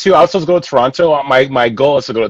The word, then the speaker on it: Toronto: it wrong it's toronto it's toronto not the t is soft like the like jogging with the soft j um yeah i i'm